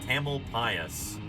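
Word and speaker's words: Tamalpais: is it should be like Tamal P Mount tamel pasas is what everybody calls it that's how it's pronounced Mount taml pasas um known locally as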